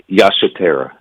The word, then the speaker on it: Yasatera: It's Yasatera. Oh my goodness. Okay, I would not have gotten. Yasatera is that's the Malagasy language of Madagascar.